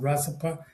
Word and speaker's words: Rasappah: So you pronounce exactly Rasipa.